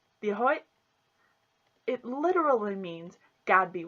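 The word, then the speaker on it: Dia duit: Hello is Diahoy. This is how it's spelled. Diahoy.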